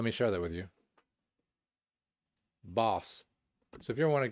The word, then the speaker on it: Bauce: I assume Bauce rhymes with sauce.